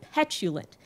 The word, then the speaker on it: petulant: passionate I'm not petulent it's because of how the words break down the emphases are omnipotent and petulent since the emphases don't rhyme the words don't rhyme even if their last syllables technically do the next line ends